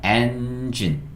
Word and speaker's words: engine: E로 그리고 마지막에 있는 E는 묵음이에요. 묵음. 어떤 영어 단어가 E로 끝나면 E는 소리 안 난다 그랬거든요. 묵음이라고 그랬거든요. 그러니까 engine, engine. 그래서 EN이 N이고요. G-I-N, G-I-N, gin, gin 되는 거예요. G-I-N, gin, engine, engine.